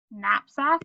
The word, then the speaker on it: knapsack: And then our words with our silent letters. We have knocks again. This one is knapsack.